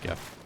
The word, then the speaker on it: GIF: GIF sounds really dumb. It is not a peanut butter. It is not spelled with a J.